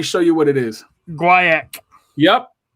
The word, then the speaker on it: Guaiac: Mick, let me know if you know how to pronounce this wood. Let me show you what it is. Guaiac. Yep. Guaiac.